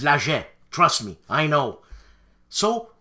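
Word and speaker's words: Laget: games designed by serge that's the way it's pronounced not legit it's lager trust me i know so what's the connection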